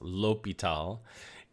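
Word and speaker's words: L'Hôpital: called l'hopital's rule now it's a french name it's pronounced l'hopital and we need to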